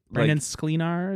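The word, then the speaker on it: Brandon Sklenar: He he is Brandon Sleenar is it is that how you pronounce it?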